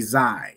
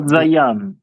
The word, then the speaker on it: Zai: This word right here would be Zai. You can see the Za and the I, right? It would be pronounced Zai or Za'ai, which is basically the same thing, right? And not Zayan.